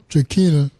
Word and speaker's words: Tranchina: Tranchina, you pronounced it Tranchina, and it made me